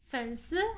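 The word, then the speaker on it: 粉丝: 粉丝 actually comes from the word fans. Fans, 粉丝.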